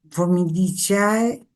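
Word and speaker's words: Formicidae: Vamos con las hormigas, eh, los componentes de las hormigas formidichae, como se pronuncia en en latín.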